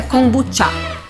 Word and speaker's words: kombucha: Tanto tudo que vem a da pronúncia China, né? Certa é kombucha.